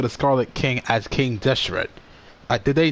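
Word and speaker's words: Deshret: pronounced that word but now they figured out how to pronounce it that's your rats King Deseret so he's still the Scarlet King but we now know that he's should be called King Deseret okay huge you have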